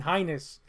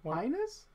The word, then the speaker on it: heinous: a person did something highness but here you are wishing hold on linus is that how you say it what do you prefer heinous uh heinous i say highness heinous heinous whoa you know what i